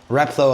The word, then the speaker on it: Replo: It's our brand, but like Replo I think is better, like replication. Yeah, that's the way to say it.